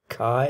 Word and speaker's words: chi: So if you let AH be K and AB be chi, or chi as you pronounce it in English, then of course BH will be the difference between chi and K, right?